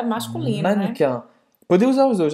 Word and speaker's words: mannequin: E como é que a gente fala mannequin? Mannequin. Não é mannequin. Le mannequin. Então quer dizer que esse E aqui não vai ser pronunciado, né? Le mannequin. Mannequin. E presta atenção como é nasalado esse an no final.